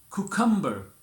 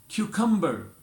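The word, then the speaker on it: cucumber: कुकम्बर, क्यूकम्बर।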